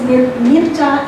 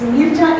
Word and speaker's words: Mircea: Mircea is pronounced as Mircea in Romania. One Romanian student corrected my pronunciation long back. So he's Mircea Eliade.